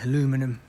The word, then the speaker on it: aluminum: Yeah, look, they're all brand new aluminium body panels. Or as the Americans say, aluminum.